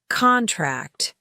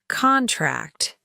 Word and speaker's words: contract: In English, we use stress to distinguish between nouns and verbs that are spelled the same but have different meanings. For instance, contract, a noun, contract, a verb.